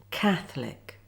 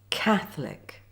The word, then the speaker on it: Catholic: Watch and listen first to how it's pronounced. Favourite. Chocolate Catholic. Comfortable. Now see how the words are spelt Favourite Chocolate Catholic.